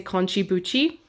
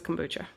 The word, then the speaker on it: kombucha: She used to say konchibuchi. Now she says kombucha, but we all still call it konchibuchi.